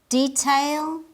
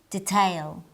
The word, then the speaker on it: detail: on the dialect list listen carefully and try to identify the differences in pronunciation adult adult detail detail garage garage vaccine vaccine both ways are correct they're different but correct in English you can